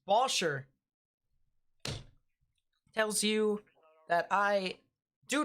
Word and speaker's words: Bossier: I've always said Bossier. It's Bosher.